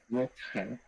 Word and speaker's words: Rutger: How do you pronounce it? Inderdaad. Rutger.